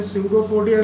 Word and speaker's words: pseudopodia: डी एंड अमोनिबा use dash है, dash में स्यूडोपोडिया लिखो, स्यूडोपोडिया. पी से स्टार्ट होगा, पी साइलेंट है.